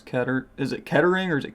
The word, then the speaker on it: Kettering: We do split gate receipts in the FA Cup, so probably Kettering. I don't know if that's actually how you pronounce Ketter. Is it Kettering or is it Kettering?